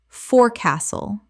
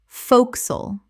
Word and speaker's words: forecastle: forecastle Common mispronunciation. forecastle Correct pronunciation. focsle Two syllables only. One of the most dramatic reductions in English.